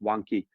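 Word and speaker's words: Vanke: So the real estate company China Vanki or China Wanki I think it's actually pronounced Wanki even in China itself is facing the risk of a default.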